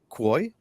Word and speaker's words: Kuo: You can find Kristin Manna, and it's Manna, Dave Rice, and Quoy. Did I say it right, Quo. Oh, like Quo. status quo? Yeah. Status quo, Quo.